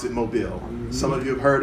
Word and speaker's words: Mobile: spelled mo bi l II and we all pronounce it mobile some of you have heard of it yeah